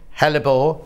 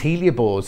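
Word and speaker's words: hellebore: January the red house hellebor now I was calling these Helia boards and the ladies were messaging center saying it wrong that Christmas roses let's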